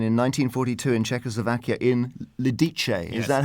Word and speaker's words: Lidice: massacre there'd been in 1942 in Czechoslovakia in Lidice. Is that how you pronounce it?